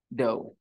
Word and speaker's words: dough: do you GH dough how do you pronounce it do look at the spelling d-o-u-g-h doe okay so she put